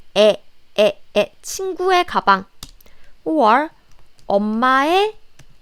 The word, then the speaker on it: 의: So the pronunciation should be 에.